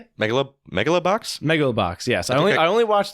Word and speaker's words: Megalobox: Megalobox?